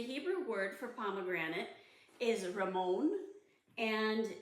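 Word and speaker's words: rimmon: And the Hebrew word for pomegranate is ramon, and it's spelled R-I-M-M-O-W-N in the English.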